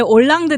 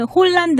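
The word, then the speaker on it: Hollande: 파리 라고 하는 그녀의 올랑드 대통령도 우리가 한글로도 올랑드 라고 표기 하잖아요 근데 그 영어로 보면 홀란드 라고 썼어요 예 h 가 앞에 있어요 그렇군요 어쨌건 요 얼굴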